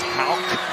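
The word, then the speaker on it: Haug: game say wait a minute his name is Hal like a k at the end it's spelled h a u g but is pronounced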